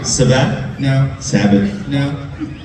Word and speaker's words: Sabat: Christopher Sabat. He wanted to know if you I could think you're saying his summarize last name wrong. Sabat?